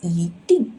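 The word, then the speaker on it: 一定: For E, you need to shift to second tone. So you need to read as 一定.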